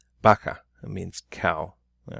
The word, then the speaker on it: vaca: pronounced the same way so you can have the word bacca bacca right sounds like a B but it is a V baka it means cow all